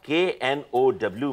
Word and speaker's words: know: ये चीज अलग है यहाँ KNOW में के साइलेंट है साइलेंट मतलब पिताजी मतलब